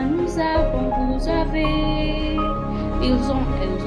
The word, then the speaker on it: nous avons: here with avoir, like nous avons. The S plus the A make the Z sound, because S followed by a vowel sound is always a Z sound.